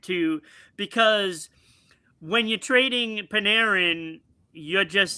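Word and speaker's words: Panarin: Art Paneran. Paneran. I always say his name wrong.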